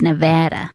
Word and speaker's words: Nevada: Nevada Nevada Nevada Nevada well obviously only half of us are right it's Nevada it's Nevada which I've never said once in my life I say Nevada so he's getting heat